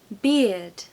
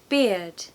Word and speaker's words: beard: different to that and it's actually closer to the drink beer it's much closer to that pronunciation that's actually what I'm